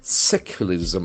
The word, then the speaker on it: secularism: must being nounced secularism secularism as we know the accent force from the first syllable secularism secularism it is